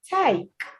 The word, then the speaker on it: take: The 5th word for today, for this slide, take. Take. Take. Take. The difference is to try to hear the glide. Try to hear the glide. Is it a short vowel sound or is it a glide?